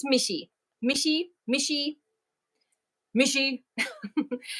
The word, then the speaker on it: Michi: And so I hear sometimes they're like, how do you pronounce? It's Michi.